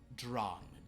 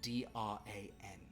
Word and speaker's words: Dran: Dran. D-R-A-N.